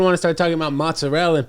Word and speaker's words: mozzarella: first of all, it's prosciutto and mozzarella.